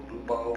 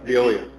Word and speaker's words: Veolia: The noise that's emanating from, I always pronounce it wrong, Beluvo or Voluvia. Veolia.